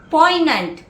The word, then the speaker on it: poignant: Next word, poignant, P-O-I-G-N-A-N-T, P-O-I-G-N-A-N-T, where the G is silent.